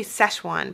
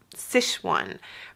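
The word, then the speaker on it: Sichuan: um a authentic sishan I always want to say sesan but you pronounced It sishan restaurant and had um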